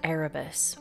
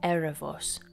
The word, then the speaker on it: Ἔρεβος: So first we encounter Erebos, or Erebos, who is darkness personified, one of the first gods to come into being from chaos.